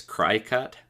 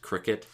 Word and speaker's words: Cricut: used to call this cry cut but it's it's it's actually pronounced cricket so it's uh it